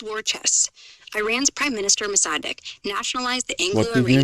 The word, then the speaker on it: Mossadegh: It's Mohammed Mossadegh. Emphasis on the deg.